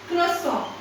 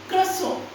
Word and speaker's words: croissant: तो इसकी दो प्रोनाउंसिएशन है. पहली है croissant. croissant. ठीक है. एक है croissant.